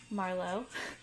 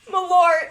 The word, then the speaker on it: Malort: Marlowe. Oh my god! What is it? Malort.